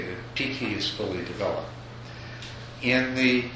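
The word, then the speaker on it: pīti: So this whole process is named piti in the Theravada system, and it's actually named piti, pronounced slightly differently in Sanskrit.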